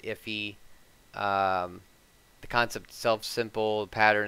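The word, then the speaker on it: IIFE: it is um and they pronounce it iffy um the concept self-simple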